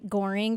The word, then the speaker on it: Gohring: name is well goring there's a silent h g o h RI